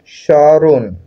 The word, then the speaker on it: স্মরণ: স্মরণ শব্দের সঠিক উচ্চারণ কোনটি? সরণ।